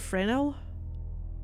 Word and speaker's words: Fresnel: Oh, the S is silent. What, Fresnel?